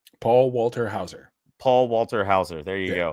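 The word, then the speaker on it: Paul Walter Hauser: It's Walter, not Walker. Paul Walter Hower. Paul Walter Hower. There you go. Paul Walter Hower.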